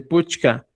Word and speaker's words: puchka: Hay muchos términos, por ejemplo, ahora ya no se dice Puska, se dice Puchka, ya Kichka, ya Hashua.